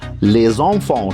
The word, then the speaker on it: les enfants: les enfants خلي بالنا ان الاس مع الاو بتتنطق زد، فبنقول les enfants اللي هي الاطفال.